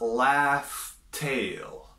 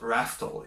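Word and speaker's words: Laugh Tale: this actually spelled and in this movie we actually find out it's laughs tail so it's not rattle its laughs tail which considering Rogers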